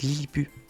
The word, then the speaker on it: Lilliput: Normalement, ça se prononce Lilliput. Le T est muet.